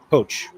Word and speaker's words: Pote: Pote is pronounced Poach.